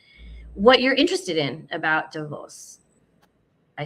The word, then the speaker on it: Davos: Not because I was at Davos, as I've been informed is the correct pronunciation.